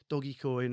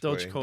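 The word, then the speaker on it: Dogecoin: They're like, "Oh, now I'm going to buy doggy coin." Or I always pronounce that wrong. I don't know what it is. Doge coin.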